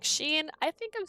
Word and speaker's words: Jean: can say their names I'm still saying Jean wrong right it's supposed to be Sheen like Jean like oh God I can't even say it right I know I'm saying